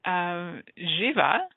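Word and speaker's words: Živa: And Jiva, which is spelt the same way, pronounced slightly different, goddess of fertility.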